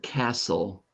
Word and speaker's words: castle: so this was a castle did you notice that in the word Castle just like in the word bustle the t is silent did you notice that